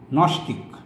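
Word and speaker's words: gnostic: Knowledge, নস্টিক, যেটা উচ্চারণ হবে না।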